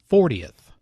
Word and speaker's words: fortieth: and third the stress is on the second syllable 14th compare this with 40th she's going to be notice how this is